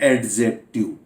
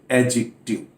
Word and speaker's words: adjective: जो कि मैंने कहा, ए और जे के बीच में यदि डी है तो ये डी साइलेंट रहता है, तो ये एडजेक्टिव नहीं है, this is एडजेक्टिव, this is एडजेक्टिव।